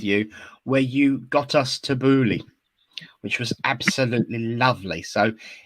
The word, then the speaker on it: tabbouleh: And I remember the first workshop I ever did with you, where you got us tabbouleh, which was absolutely lovely.